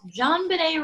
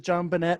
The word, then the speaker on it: JonBenét: So, the T's there, so I pronounce it. Yeah, definitely. You know, knife, knite, pterodactyl. Pterodactyl. So JonBenet. Yep, JonBenet.